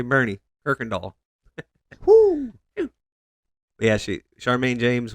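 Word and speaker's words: Boerne: born June 23rd 1970 in Bernie Bernie Texas yeah but grew up in New Mexico b o e r NE yep I pronounce it right make sure to say Bernie perkal yeah she Charmaine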